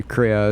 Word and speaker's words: Crea: And so real quick about Troy, his last name is pronounced Crea. I've known him for, I don't know, more than 5 years now, and I thought it was Cree. It's like Crea.